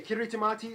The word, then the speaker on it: Kiritimati: By the way, Kirit Tamati is the native way of pronouncing Christmas.